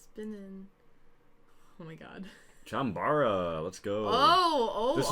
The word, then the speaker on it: Chambara: chambo yeah is it is it chambara or is it chamb it's chambara I always say chambar I don't that sounds that sounds more correct than chambar why can you